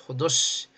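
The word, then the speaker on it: ὁδός: 호도스. 호도스. 엑소도스 할 때 요거예. 그런데이 흐발음이 흐라는 기시금은 앞에 무슨 접두사가 오면은 그냥이 기식이 없어져 버려요. 그래서 엑소도스가 되고 이게 혼자 있으면 호도스가 돼요.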